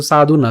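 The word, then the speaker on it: সাধূনাং: না সো এখান থেকে পরিত্রাণ পরিত্রাণ সো পরিত্রাণায় সাধুনাং ধুনাং এখানে খেয়াল করতে হবে আমাদের এখানে ধ এর সাথে দীর্ঘকার আছে ঠিক আছে এখানে কিন্তু দ নাই অনেকে সাধু উচ্চারণ করে এটা কিন্তু সাধু না সাধু ঠিক আছে কারণ ধ আছে সাধুনাং এরপর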